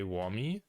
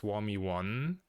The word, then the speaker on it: Wami: be um I like for my name I I say whammy but because the twitch handle is warmy one because of like wami already being taken um people pronounce my name quite differently and funny sometimes all the streamers I usually watch pronounce it warmie except one that says warm yon which I also kind of fine with but yeah like if